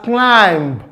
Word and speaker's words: climb: Climb. You don't pronounce it as climb. It is pronounced as climb.